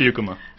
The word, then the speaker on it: Beukema: It's Beukema.